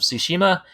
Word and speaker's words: Tsushima: Ghost of Tsushima, I'm guessing that's how you pronounce it, because I had a second grade teacher named Mrs. Tsushima. That is correct. And yeah, Ghost of Tsushima, release date, there's a trailer that just came out today.